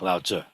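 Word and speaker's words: Laozi: But in this case, when we write it in pinyin, it looks like it should be Lao Zi or Lao Zi, yeah, Lao Zi, but it's actually pronounced more like Lao Tzu.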